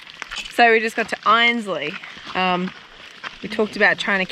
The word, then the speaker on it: Einsleigh: Is that how you pronounce it? Yes, Einsleigh. So we just got to Einsleigh.